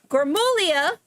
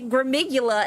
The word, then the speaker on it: Gullia: Uh, my friend Anthony Anthony Gullia, I keep hearing people say Gigula and I'm like, that's not how you say it.